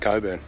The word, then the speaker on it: Cockburn: sam just told me it's spelt cockburn range but it's pronounced coburn there you go i